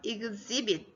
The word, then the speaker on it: exhibit: 이 x가 ex라는 발음이 나여서 exhibit.